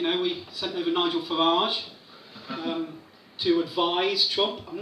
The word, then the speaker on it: Farage: Fundamentally, he's got the emphasis on the wrong syllable. Because it's not a bandage or a garage, is it? It's a garage and a bandage, so it's fundamentally Nigel Farage, so let's call him that from now on.